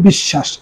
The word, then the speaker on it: বিশ্বাস: বিশ্বাস শব্দটি শয়ের নিচে ব, এখানে 2টা স উচ্চারণ হবে বিশ্বাস।